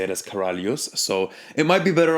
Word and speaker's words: Karalius: Is it Karalius or Karalius? So it's pronounced in Lithuanian Karalius. Karalius. Right? But I look at it and I say Karalius.